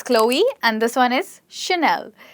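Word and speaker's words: Chloé: It's Chloe, and this one is Chanel.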